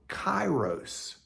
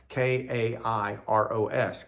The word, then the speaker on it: Kairos: It's the word Kairos. Spelled with a K, or kappa, K-A-I-R-O-S, Kairos.